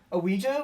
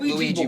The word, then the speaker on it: Ouija: i'm sorry pronounce it ouija wow wow okay pronounce it luigi it's not ouija it is ouija it's like luigi luigi yeah that's how you say ouija board nah nah that's not